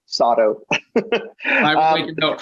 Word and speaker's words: Sato: It rhymes with auto, Sato.